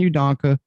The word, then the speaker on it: Udoka: All the speculation and news, was enough for them to suspend Udoka's.